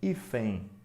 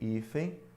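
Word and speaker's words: hífen: é esse U semivocal E também ifem ó o en final de sílaba é um ditongo porque se n é representado por esse Y que é o i semivocal Se a gente fosse escrever ifem a gente teria né o h não é som eu teria I fem certo Ou seja que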